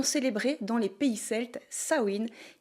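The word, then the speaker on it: Samhain: Avant les citrouilles et les bonbons, on célébrait dans les pays celes sawiin qui ne s'écrit pas du tout comme ça se prononce l'ancienne fête païenne dédié aux morts et aux esprits.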